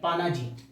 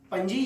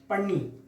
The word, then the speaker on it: Panaji: English में इसको लिखते हैं PANAJI, पानाजी, लेकिन इसका नाम है पणजी, या फिर इसको बोलते हैं पन्नी। इसका एक ऐसा भी प्रोनाउंसिएशन होता है।